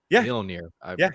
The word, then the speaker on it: Mjolnir: And that makes so much sense given the construct of her hammer, Mjolnir.